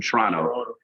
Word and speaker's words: Toronto: I have to say it like a like I'm from Canada. From Toronto.